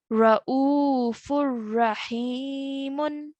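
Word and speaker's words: رءوف رحيم: So we are going to read this as Ra'ufur Rahimun. Ra'ufur Rahimun. Okay, so the one of the strokes of tanween is removed, so that nasal sound is removed.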